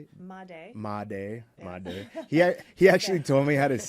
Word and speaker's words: Madej: Madej.